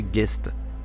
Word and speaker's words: ghost: le nord de l'Angleterre le fantôme Ghost était autrefois prononcé guest on juge ainsi que